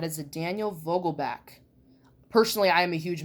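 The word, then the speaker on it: Vogelbach: cool Daniel Vogel back I heard some people pronounce it Daniel Vogel bak but it's Daniel Vogel back on there and there's fans call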